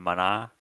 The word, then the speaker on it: Mana: I would probably recommend just playing Legend of Mana. Like, Yeah. it's kind of a good game. Kind of a highly beloved game. So probably just play that instead. Yeah. Dark? It's pronounced mana. Okay. It's Mana actually.